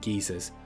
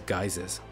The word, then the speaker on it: geyser: an all-new group challenge known as abyssal geezers which I think you Americans watching actually pronounced as geysers the full details are